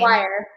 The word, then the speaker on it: Dwyer: Dwyer.